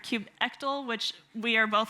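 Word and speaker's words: kubectl: first word there so I was saying Cube cuddle he was saying Cube CTL and apparently according to the actual like uh 1 nine release it's Cube control but if I screw up and say it wrong you can all yell at me later or maybe you have a different way of saying it I've heard Cube ectl which we are both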